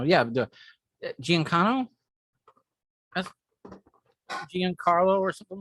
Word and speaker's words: Giancarlo: he was oh uh was it no not giancano yeah giancano that's giancarlo or something like that and he's the next